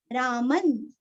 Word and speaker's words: रामं: रामन, यहाँ पे अनुस्वार का उच्चारण आधा न आएगा, आगे त तथा दद न, ऐसे।